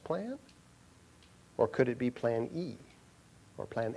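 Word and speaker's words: πλάνη: And in fact, it's interesting that the Greek word that is interpreted as error is pronounced plane. What's that sound like? Plan A.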